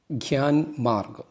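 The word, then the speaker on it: ज्ञानमार्ग: ഹിന്ദിയിലെ അടുത്ത ചാപ്റ്ററാണ് ഗ്യാൻമാർഗ്. ഇതിൻ്റെ ഉച്ചാരണം ഖ്യ എന്നാണ്.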